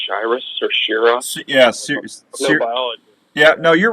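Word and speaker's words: Shiras: there are um I I believe they're pronounced Cyrus yeah seriously yeah no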